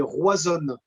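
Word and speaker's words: Roazhon: En breton, Rennes, c'est Roisonne.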